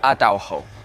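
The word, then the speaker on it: Atauro: There's an island called Atawo and there's another island called Yako. Look it up. It's spelled Ataho and the other one is called Jako.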